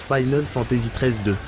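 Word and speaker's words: Final Fantasy XIII-2: dire en RPG bah apparemment ça se prononce Final Fantasy 13 2 on invente rien c'est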